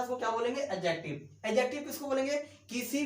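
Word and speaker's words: adjective: और थर्ड में क्या आपका, एडजेक्टिव, नॉट एडजेक्टिव, एडजेक्टिव, यहां डी साइलेंट रहता है।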